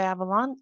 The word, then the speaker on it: Avalon: Avalon. It's Avalon. pronounced Avalon. It's actually Okay. Welsh.